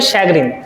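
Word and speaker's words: chagrin: सी एच ए जी आर आई एन। इसे बोलते हैं शैगिन। तो यहां से जो निकलता है साउंड वो श का निकलता है श का।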